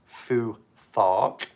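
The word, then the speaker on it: Futhark: it's f you th a RK but it's pronounced Fuu thought and it goes through each ruin alphabet letter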